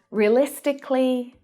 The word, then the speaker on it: realistically: But when an adjective ends in the k sound, like specific, we don't pronounce the syllable before the ly. And there's lots of examples of this. Realistically, strategically, logically, they're all pronounced in the same way, just like specifically.